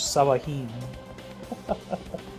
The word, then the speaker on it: Sahuagin: Pronounce it as though it were Spanish. Sawahin.